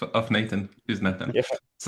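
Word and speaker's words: נתן: Natan is proper way in in Hebrew to say Nathan. It's the Israeli pronunciation of of Nathan is Natan.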